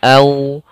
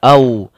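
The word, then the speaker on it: أَوْ: Madlin yaitu mad yang lembut dalam pelafalannya, sehingga membacanya au ya, lembut, tidak au.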